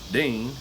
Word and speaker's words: Din: the poem Gunga Din, the name of the central character in the poem, Dean, is intended to rhyme with certain words in the poem, like green and spleen.